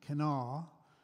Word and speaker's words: Kanawha: here from Cana County and I got her pronounced Canal it's k n a wh canala but it's